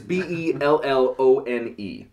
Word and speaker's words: Bellone: totally differently bologne is b-e-l-l-o-n-e bellone so and pretty much pronounced like the meat the whatever that is so um the cola